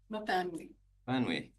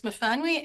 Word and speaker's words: Myfanwy: And forgive me if I get the name wrong, but Myfanwy Art? Myfanwy, okay. Hello, come before us. The floor is yours. Thank you for correcting my mispronunciation. Hello, my name is Myfanwy and I'm the president of the Qathet Art Council.